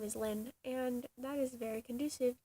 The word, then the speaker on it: Lynn: My name is Lynn, and that is very conducive to oil painting jokes, because there is this particular substance called linseed oil. It's spelled with an I, but my name sounds the same, so I use it,